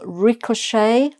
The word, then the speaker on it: ricochet: Um, ricochet. Ricochet, which is more or less the French pronunciation, uh, is, um, if